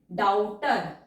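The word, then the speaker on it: doubter: डाउटर, हमने D stroke को डबल किया क्योंकि अटैच्ड फाइनल डिप्थोंग साउंड है, ओ डब्ल्यू की आ रही है, इसलिए हमने डी स्ट्रोक को डबल कर दिया, बी हमारा साइलेंट है, डाउटर।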